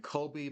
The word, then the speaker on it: Kobbie: Obviously named after the late, great Kobe Bryant, even though in this case, Kobe is spelled Kobbie.